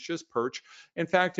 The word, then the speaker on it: Pyrcz: as Susan said its perch it's just perch in fact if you pronounce it just like this like the fish you've got it you've nailed it I